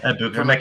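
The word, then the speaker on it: Egbuka: I always say his name wrong. Yeah, Ikbuka.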